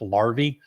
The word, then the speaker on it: larvae: It's pronounced larvae.